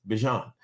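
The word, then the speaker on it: Bijan: says but he says he even says bean and I'm like okay what do your mom call you he's like ban but everybody says Bean so I just say my name is Bean except on the pronunciation guide that the Atlanta Falcons put out that it's his voice saying his name he says Bon like what do I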